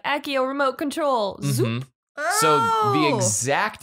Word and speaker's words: Accio: two different directions but i believe that this one's pronounced ossio accio it is meant to be i always read it as axio so yeah because in latin i believe c's are meant to be pronounced hard never soft so i'm mispronouncing this